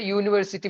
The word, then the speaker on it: university: with U you is a v letter we pronounce is a university with the Y sound so we use a